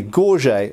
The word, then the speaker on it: gorget: form of throat protection, commonly called a gorget or gorget, depending how you want to pronounce it. Gorget is correct.